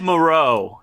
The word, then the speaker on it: Moreau: Oh, no, it's spelled like Morrow. It's Moreau. Like Big Morrow, yeah.